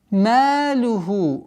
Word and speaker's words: مَالُهُ: Малюху. Ма. Мягкий звук, удлинение в размере двух огласов. Малюху.